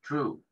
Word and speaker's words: true: Cosas que son siempre verdad, o ciertas, true. ¿Sí? La palabra true en inglés, esta E no se pronuncia al final, quiere decir verdad o ciertas.